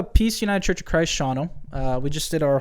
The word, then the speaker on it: Shawano: that's awesome yeah and that's in Shawano Wisconsin yeah uh pronounced Shawano if you're from anywhere else yeah it's actually uh